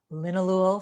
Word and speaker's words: linalool: lavender so that molecule has been studied extensively it's spelled l-i-n-o-o-l you could google it linalool for relaxation or anti-anxiety or things like that